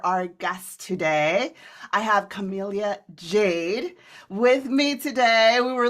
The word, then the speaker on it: Camellia Jade: so excited for our guest today I have Camellia Jade with me today we were literally practicing how